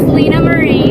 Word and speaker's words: Lynaa Marie: So you have to pronounce your name because I never say it right. It's Lynaa Marie.